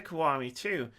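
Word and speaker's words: Kiwami: and switch on May 9th we have yakuza kawari - that's how you pronounce that Keith on PC and also on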